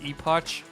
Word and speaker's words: Epoch: pronounced Epoch.